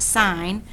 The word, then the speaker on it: sine: is just SI and i know it looks like sin but it's actually pronounced sign so the sine of